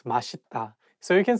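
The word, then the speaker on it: 맛있다: um it's okay because even some Korean people sometimes just by mistakes in Malita but actually the correct pronunciation is mashita so you can say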